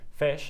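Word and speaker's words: Phish: Roll Hall of Fame fish and that's fish spelled with a pH is nominated to receive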